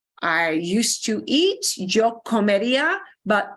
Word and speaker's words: comería: I used to eat, yo comería, but it's comería. We keep the ER on. Comería. You got to listen. Okay. They might be slightly harder to pronounce because we're keeping the whole infinitive.